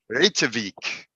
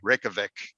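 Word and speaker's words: Reykjavík: Reykjavik. Or if you're like a typical American, just say Reykjavik.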